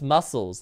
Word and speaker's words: muscles: yeah it is no it's muscles the the ca is silent same thing no it's